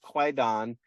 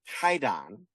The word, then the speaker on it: Kwaidan: It's a collection of different short stories, but this collection uh you were right by you're you pronounced it correctly. It is called Quaidon, but really it's Kaidon because the title of the book on which